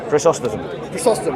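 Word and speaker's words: Chrysostom: read john of christos yeah that's how he pronounced his name chris austin yeah he had a am and next to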